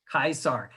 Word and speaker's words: Caesar: were going to go meet uh julius kaiser instead of julius caesar that's how he would pronounce his name julius kaisar and then you know